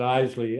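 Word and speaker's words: Iseli: I pronounce it Isley. I don't know. Other people pronounce it some other way.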